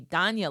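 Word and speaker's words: Dhanya: This third form of Lakshmi, Dana Lakshmi is spelled D Han Ya.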